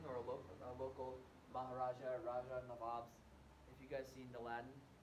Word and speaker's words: Nawab: a local Maharaja, Raja, Nawabs. If you guys seen Aladdin, he goes, I'm on the job, you big Nabob. And Nabob was a mispronunciation of Nawab, which is this term for these Indian princes.